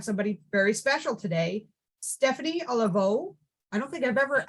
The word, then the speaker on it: Olivo: here we have somebody very special today Stephanie olivo I don't think I've ever actually said your last name it's always just been Steph or Stephanie did I pronounce it olivo okay yeah that's way better than what I